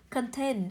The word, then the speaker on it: contain: Contain, âm đầu tiên của cô cũng là Ơ, không rơi vào Ơ, nó rơi vào ten cũng là nguyên âm đôi.